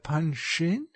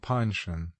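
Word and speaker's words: Panshin: only been hindering mr punching she never pronounced his name panchon as was correct from holding forth besides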